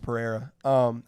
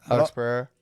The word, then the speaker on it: Pereira: I think his name's pronounced Pereira. Alex Pereira.